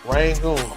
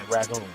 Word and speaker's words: Rangoon: Rangoon, R-A-N-G-O-O-N. Rangoon. We say ragoon. So it just all depends on where you're from, you know, and how you say it.